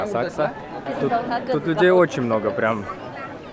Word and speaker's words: Asakusa: пришли к храму Акса асакуса по-моему так пишется но они произносят както асак тут Людей очень много